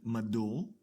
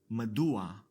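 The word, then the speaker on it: מדוע: So in order to overcome this pronunciation difficulty, the Hebrew language adds an a sound before the last guttural consonant, turning madur to madua.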